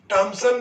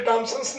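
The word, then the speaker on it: Thomson: Cathode किरणों के अध्ययन के फलस्वरूप इलेक्ट्रॉन की खोज हुई है, और जे टॉमसन या जे थॉमसन प्रोनाउंसिएशन रूप में जे थॉमसन ने किया है।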